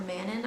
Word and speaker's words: Manon: And I would also say Dorian and Manon, or Manon. I correct my pronunciation of her name, from Throne of Glass.